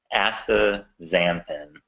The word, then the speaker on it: astaxanthin: name to it so it's real easy to pronounce once you replace the Z once you replace the X with a Z so ask the Zam end it's a very difficult